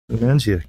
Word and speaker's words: Lumenzia: How do you pronounce it? Lumenzia? Lumenzia.